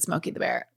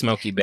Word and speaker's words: Smokey Bear: I've only ever said Smokeoky the Bear and you've only said it wrong. Wow. Pull over. Pull over. I've actually known this for years, but yes, I bet half of the people know that it's Smokeoky Bear.